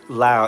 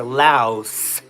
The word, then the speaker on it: Lao: Help me with the pronunciation of Lao. Is it Lao silent s or louse with the s at the end? Because I hear them saying loud with the silent. So, is it Lao or Laos with an S?